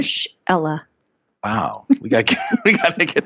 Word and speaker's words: Marshella: Most people mess it up. They say Marshella, Marcella. No, they don't. Are you serious? Yeah, and I'm like, oh, it's exactly how it's spelled.